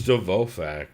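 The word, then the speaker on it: Dvořák: You said you had Dvorak, right? Dvorak, yeah. Oh, it's Dvorak, by the way. That's an F, not an R.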